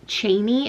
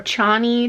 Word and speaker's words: Chani: And now pretty deep into book 2, we have introduced Chaney at this point, or Chani, depending on how much you want to respect the pronunciation.